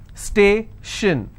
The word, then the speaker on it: station: Station, so I will stress on stay.